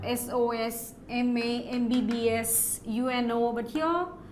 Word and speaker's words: MBBS: And an MBBS. He is an MBBS. We say not a MBBS. Why? Because the letter M, when you pronounce, it is M. So this sound, you see, it's vowel sound, right?